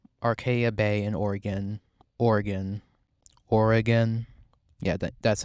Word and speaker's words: Oregon: to her hometown Arcadia Bay in Oregon Oregon Oregon yeah that that's how you say it in